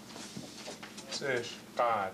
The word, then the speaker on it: Tsishkat: it's Tsish, excuse me, Tsishkat. So Chilkat, Tsishkat. In other words, the English was an attempt to try to pronounce the original name, but this is the way the old people called them.